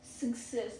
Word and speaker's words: scissors: Pro tip is SC sounds like S, not SK. Scissors, not scissors.